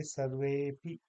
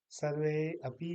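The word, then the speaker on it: सर्वेऽपि: जैसे सर्वे अपि, सर्वे धन अपि है सभी लोग, इसको हम कहेंगे सर्वेपि। सर्वेपि नहीं, सर्वेपि, सर्वे अपि नहीं कहेंगे। तो इसको समझ लें, सर्वे अपि नहीं कहेंगे, सर्वेपि कहेंगे। वे के साथ ही हम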